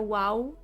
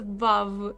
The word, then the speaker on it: Vav: The Vav, by the way, it's not a wow. It's a Vav. It's a solid Vav, okay?